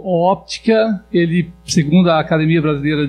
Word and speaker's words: óptica: Então, na hora de escrever ótica de raio-x, na verdade se pronuncia óptica de raio-x normalmente, né?